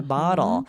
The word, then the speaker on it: bottle: Well, in the States, we say bottle. It sounds like the D, the D, bottle. We don't say bottle. We don't say the T, but it sounds No. like a D. It changes to a D. But Yeah. in a lot of British accents, it would sound like bottle. There's a glottal stop there.